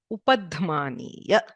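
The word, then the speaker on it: उपध्मानीय: Again, to clarify, it is not f, the f sound, which is in, say, English fish or Hindi fal. That is not upadhmaniya. You have to use both the lips and bring it to a rounded shape.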